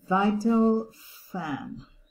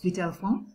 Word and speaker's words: Vitalfan: It's Vitalfan. Well, this is how the American pronunciation is, but in French, it's Vitalfan.